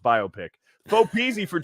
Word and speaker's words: biopic: Is it pronounced biopic or biopic? It's pronounced biopic.